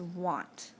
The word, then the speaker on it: want: said is an oddball the other oddball we have is want it has an a but it doesn't make a short a sound like an apple what makes a ah sound almost like an O so our oddballs are